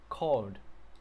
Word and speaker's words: called: Nhưng mà trong tiếng Anh á, phát âm cái chỗ này nó là âm D nha mọi người. Called.